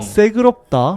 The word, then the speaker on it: 새그럽다: 새그럽다. 맞아요. 대박이다. 저희는 새그럽다라고 했어요. 시끄럽다보다는 된 발음이 들어가니까 새그럽다. 약간 이런 느낌.